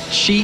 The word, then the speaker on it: XY: We've got XY, who will be playing in a little bit, or Shi, I think you... Shy. Shy is actually how you say it.